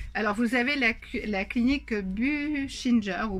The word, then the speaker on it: Buchinger: Alors, vous avez la clinique Buchinger ou Buchinger, ça s'écrit B-U-C-H-I-N-G-E-R, je vous le mettrai dans le descriptif.